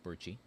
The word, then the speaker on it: Percy: We're gonna go with Purchi.